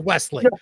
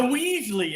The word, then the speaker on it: Wesley: You got the last name right, but his first name is Wesley. Well, you know why? The Weasley is kind of fun.